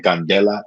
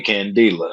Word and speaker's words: Candela: pronounce my last name candela is pronounced like nelson mandela only spelled with a c candela or candela there's a lot of people who call me candia you know it doesn't